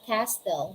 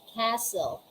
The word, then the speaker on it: castle: are we have castle we don't say castell we have we say castle we say christmas we